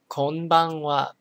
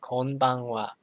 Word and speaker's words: konbanwa: it's evening you say konbanwa and maybe you've noticed but the the this syllable is pronounced it's one whole syllable so it has the same weight as all the other syllables okay next one sayonara